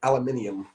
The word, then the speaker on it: aluminium: I mean, the funny one was aluminium. I mean, oh, sure, the American pronunciation aluminum.